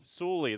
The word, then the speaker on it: Sully: Sully. Sully? That's how we're going to pronounce it.